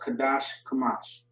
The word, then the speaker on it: Qadash Kamash: So you have Qadash Kamash. It's kind of a, a mouthful, but you know what I mean? Kind of a tongue twister. But Qadash Kamash is how you pronounce that or say it.